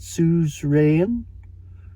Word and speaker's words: suzerain: Suzerain? Suzerain. I always wondered how to pronounce that word.